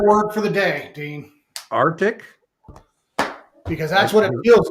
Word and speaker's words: Arctic: that that's how we spell the word AR Arctic is the pronounce is the proper way so it's the